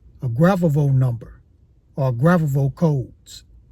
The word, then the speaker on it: Grabovoi: Now, this number is called a Gravovo number or Gravovo codes, or you can call it Gravovoy.